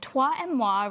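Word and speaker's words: toi et moi: So, it tua and mwa rings um is French for you and I.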